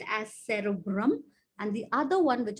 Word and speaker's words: cerebrum: going to be your cerebrum okay remember that the word brahm rhymes with drum so the bigger part